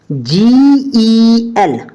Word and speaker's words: gel: GEL, अब जी के just after क्या आया, ई, तो इसलिए जी किसकी आवाज दे रहा है, जा की।